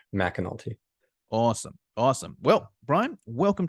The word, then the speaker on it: McAnulty: us it's Brian so it's spelled MCA but it's pronounced Mac McNulty awesome awesome well Brian